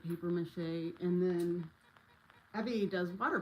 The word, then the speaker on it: papier-mâché: I said it wrong. I don't I don't know how to use it. I don't know how I don't know how you say it. You say it the correct way. I just say papier-mâché.